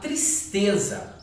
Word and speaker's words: tristeza: bem aqui embaixo, que está escrita a palavra tristeza. Vamos separar a palavra tristeza, ó. Tristeza. Ela tem 3 sílabas, certo?